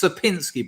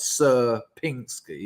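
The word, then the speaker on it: Sierpiński: on Sir pinsky's triangle it's sapinski by the way not sir Pinky and I say it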